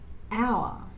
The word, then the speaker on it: hour: But when we say the word hour, we don't say the letter H, we say hour. So it sounds like the word hour.